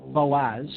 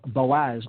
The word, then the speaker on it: Boaz: and the right hand pillar the pillar of boaz marked there with a b i'm hearing